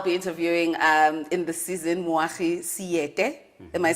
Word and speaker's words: Moagi Seete: But the only male I'll be interviewing in the season, Moagi Seete.